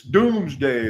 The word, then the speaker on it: Domesday: I know it's spelled Domesday for some reason. It's Doomsday. That's the way everybody says it. That's the way it sounds cool. Henry Hudson, Port Orange.